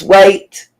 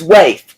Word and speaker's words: Waif: If I'm saying your name wrong, it's Wait. It's Waif.